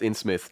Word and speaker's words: Innsmouth: singers we're playing the in Smith's case today which is supposed to be a somewhat spoopy game yeah it is pronounced in Smith though I mean it